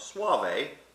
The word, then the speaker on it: Soave: of rico suave but it will help you pronounce the wine this is actually named for a town in northern italy by the name of suave in the veneto province now a suave wine is a white